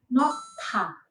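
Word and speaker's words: 놓다: Contoh lainnya yaitu kata nota. Konsonan hiet berada di bacim positions dan konsonan diget berada di initial positions. Maka konsonan diget berubah menjadi aspirated. Jadi melafalkannya menjadi nota. Nota.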